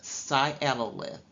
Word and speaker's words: sialolith: you have sialo the medical term here is sialolith it is pronounced sialolith and that means it's a calculus or stone